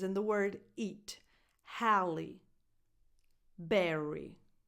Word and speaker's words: Berry: Halle Berry. Her first name and her last name end with the exact same vowel, a tense E sound.